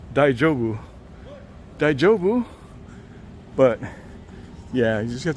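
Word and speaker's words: daijōbu: understand they're saying that he's saying Deja Vu like French deja vu but it's daijobu yeah it's cold out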